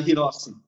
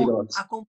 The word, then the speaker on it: Hirose: Hirose, que pronuncia? Hirossi. Hirose. Então, Hirossi.